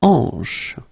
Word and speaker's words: hanche: La hanche. La hanche. Remember, H here is not pronounced, so you get the sound en, hanche at the beginning.